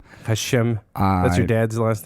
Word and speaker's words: Hashem: It has many pronunciations. You could, the proper pronunciation is probably Hashem. Hashem.